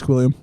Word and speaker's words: Squilliam: Yeah, it's Squilliam.